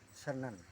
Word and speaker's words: Senen: Jadi ibunya Wagei Rudolf Surapan namanya Senen. Oh Senen. Bukan Senin bukan. Ejaannya ejaannya Senang. Nggih. Sen sen yang betul senang.